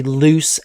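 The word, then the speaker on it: Luce: Remember in the 1940s and 50s we were talking about Henry loose and I looked up the pronunciation of this. It's no it's like juice. It's loose. Henry loose l u ce.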